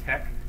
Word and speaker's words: TeX: Since pronunciation is best determined by usage, not fiat, TEX is usually pronounced tech, making LaTeK and LaTeX the logical choices. But the language is not always logical, so latex is also possible.